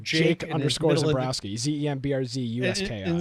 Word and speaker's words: Zembrzuski: Zembrowski. Which is funny is his Twitter is like Jake underscore Zembrowski.